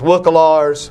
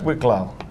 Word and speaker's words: Wicklow: he's got the pronunciation wrong. Where is it? Wicklow. Wicklow, yeah. Yeah.